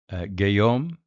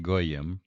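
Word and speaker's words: גויים: Uh shimon gayom uh would be eight. Uh what did I say? Gayom goyam shimon goyam is the correct pronunciation there.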